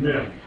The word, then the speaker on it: Mem: Letter Mem is pronounced like an M in our alphabet.